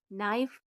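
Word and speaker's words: knife: ओ डब्ल्यू नो के एन आई एफ ई नाइफ के एन ओ टी नॉट अगला है एल तो एल का उच्चारण ल होता है जैसे एल आई एन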